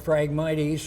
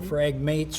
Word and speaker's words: phragmites: the non-native species like phragmites or phragmates or phragmites, because people pronounce it every which way, which is Australian weedgrass,